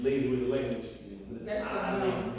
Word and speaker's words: alaikum: You gotta open your mouth and you say alaikum, but nobody does it. Most people, I guess, we're lazy with the language. That's Alaikum.